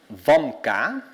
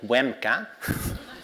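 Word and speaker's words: WCAM: 1 of January 2020 it's called vka not weka or Wika vka so if you're a cool funder you learn to pronounce vka and as of the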